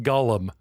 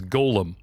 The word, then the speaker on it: golem: Doug but I love how you call it Gollum as in as far as I know the pronunciation of the creature is Golem what Golem you're going to come for me